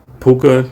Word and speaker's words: Puka: um Kyon Williams no the the WAN guy puka n yeah p p puka PUK the thank you thank you you got